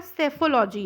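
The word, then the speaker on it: psephology: देखिए यहाँ पर सेफोलॉजी है, पी यहाँ पे साइलेंट होता है, ठीक है।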